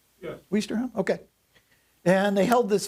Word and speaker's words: Ouistreham: Free French commando forces also helped secure the resort town of, I think I pronounced this right, Ouistreham? Yes. Ouistreham?